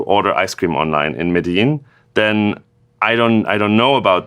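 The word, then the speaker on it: Medellín: best ice cream PWA ever in, let's say, Medellin, is that how you pronounce that? Perfect. Yes. So if you build the best PWA to order ice cream online in Medellin, then I don't know about that, especially if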